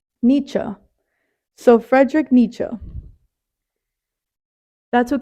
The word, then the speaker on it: Nietzsche: second one was the second search it was pronunciation for the word Nietzsche Nietzsche so Frederick Nietzsche that's what came up with